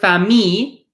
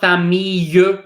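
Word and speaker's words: famille: a second ago right in the word fami this e is silent it's not Pham me you it's not that me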